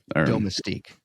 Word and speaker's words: domestique: the Domestique uh uh uh How do you pronounce that? Domestique? Domestique.